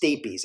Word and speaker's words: stapes: called the stapes and it is pronounced stapes s-t-a-p-e-s now the stapes is